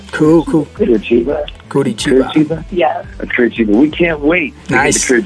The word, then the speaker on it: Curitiba: Curitiba.